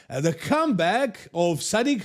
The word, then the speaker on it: Sadik: And in Sadik's case, it's actually Sadik, not Sadik, and his last name is Hadzovic, not Hadzovic.